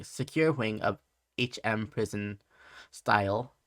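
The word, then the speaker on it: Styal: wing of hm prison style and cheshire report yeah i said it right right you did yeah trisha uh reportedly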